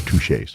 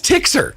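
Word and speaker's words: Tixier: up a lot touche well it's spelled t-i-x-i-e-r so most people don't pronounce it right and they just call it that's tixer yeah her name is tixer your name is not touched in this picture it's pronounced well no in your mind it's pronounced touche I'm guessing it's French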